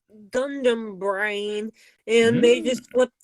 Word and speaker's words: Gundam: this whole Gund arm Incorporated thing but it's pronounced Gundam it's it's gandamu the same way in as you say the